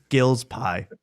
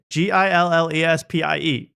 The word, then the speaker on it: Gillespie: If Shane Gillis ate a lot of pie, he would be Jim Gills Pie. That's the guy that left. Jim Gills Pie. I mean, look at the name. Gillespie.